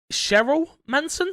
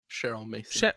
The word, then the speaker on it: Cheryl Mason: Starting today on the public test servers, Cheryl Manson, is that how you say it? Cheryl Mason. Cheryl Mason, sorry, I said Manson.